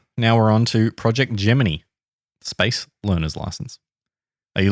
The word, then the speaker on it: Gemini: foso is done now we're on to project gmany space learner license are you looking at me because you think it's Gemini mhm yeah the official NASA pronunciation is gemin